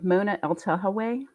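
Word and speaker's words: Mona Eltahawy: Mona Eltahawe.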